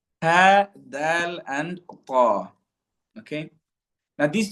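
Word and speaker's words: د: Okay, the letters Ta, Dal, and Ta, okay, are pronounced via the tip of the tongue. So the very very beginning part of the tongue, okay, or the end part if we're making our way downwards, okay, the tip of the tongue, okay, it is pronounced. These three letters are pronounced when the tip of the tongue connects with the roots of the front upper teeth.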